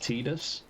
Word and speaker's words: Tidus: far as I'm aware, canonically, through other voiced work, it's pronounced Tidus, but they never actually